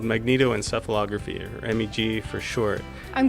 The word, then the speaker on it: magnetoencephalography: Our machine is called magnetoencephalography, or MEG for short. I'm glad you pronounced that for me because I've been unable to.